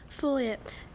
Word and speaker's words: foliate: Foliate.